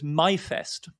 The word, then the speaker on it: Myfest: which is known as myfest um which which is a clever english german pun because the german for may is my but they spell it english m-y-f-e-s-t so in other words